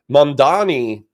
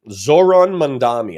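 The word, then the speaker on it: Zohran Mamdani: Mandani, Zoron Mandami, I can pronounce his name.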